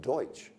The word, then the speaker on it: Deutsch: Dutch, and of course that's just a mispronunciation of Deutsch.